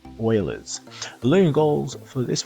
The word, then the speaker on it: Euler's: Looks like it says Euler's, but it's actually pronounced Euler's.